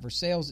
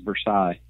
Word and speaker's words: Versailles: And Hogan First Prep, of all, I really thought this whole time it was Versailles. It's Versailles. And so that's where a lot of Walmart and I money say Versailles resides.